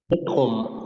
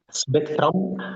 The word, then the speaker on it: Spektrum: شبيكتروم، مش سبيكترم ولا سبيكتروم ولا سبيكترم. في ناس على فكره بتنطقوا سبيكتروم.